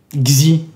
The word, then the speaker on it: Xi: Xi. C'est comme ça que ça se prononce.